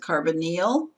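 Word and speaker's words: carbonyl: methyl group is C with three hydrogens the carbonal group that's how you pronounce it carbonal is a carbon with a double bonded oxygen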